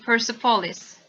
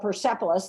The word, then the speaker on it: Persepolis: wrote two books called persepolis that's the way i pronounce it probably not correctly not the way you would pronounce it in farsi probably but persepolis one and